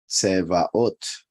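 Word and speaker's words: צבאות: see, it is pronounced Sevaot. which is pretty much the same as Sabaoth, right?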